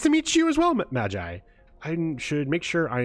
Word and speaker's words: Magi: The Magi pitch, yeah. Also, I've learned to pronounce M-A-G-I as Magi.